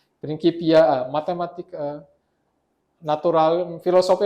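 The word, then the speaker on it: Principia: Dulu saya baca ini prinsipnya, tapi ini kan bahasa Latin. Ternyata saya baru tahu belakangan eh setelah sekian lama saya baru tahu ini bahasa Latinnya dibacanya prinipia. Prinky. Nah, prininkipia. Prinkipia eh matematik eh natural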